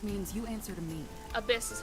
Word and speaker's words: Abyss: Abyss is how you pronounce it.